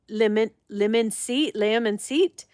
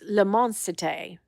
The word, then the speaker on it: L'immensité: And I was saying lemon seat, but it's L'immensité, which makes so much more sense.